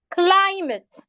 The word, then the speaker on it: climate: we have words like climate climate it has two syllables and it's a noun so we're stressing the parts the first part the first syllable and that is why